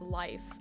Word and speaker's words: Leif: Because there was, like, somebody told me I was pronouncing Leaf's name wrong. And I'm still confused. I'm like, isn't it Leaf? And somebody was saying it's life. I don't know. I will always say it like Leaf.